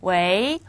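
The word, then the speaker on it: 喂: 바로 여보세요 겠죠 자 그런데이 글자는 원래는 웨 성이에요 그런데 전화를 거면서 여보세요 왜 하면은 느낌이 이상하죠 그래서 여보세요라는 어감을 살려 주기 위해서 원래는 성이지만 이성 럼 발음을 합니다 웨이 웨이 여보세요라는 뜻이고요 왕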